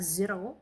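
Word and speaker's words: Xero: I plan on using is it zero, but it's spelled as X E R X E R O. That's how it's spelled. So, I'm thinking it's zero cuz it sounds like zero, but it's not Z. So, it's zero.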